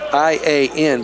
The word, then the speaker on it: Ian: It's spelled I-A-N, but it's pronounced E. Ian.